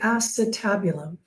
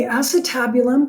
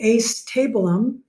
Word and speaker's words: acetabulum: the hip socket is actually known as the acetabulum. The acetabulum, that's how you pronounce it, but remember, you're not being graded on how you pronounce things. So my TAs will often deliberately pronounce this the acetabulum, just so that you can remember to spell